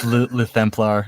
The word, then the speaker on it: Luthemplar: It's just Luthemplar. It's just a mixture of Luther and Templar.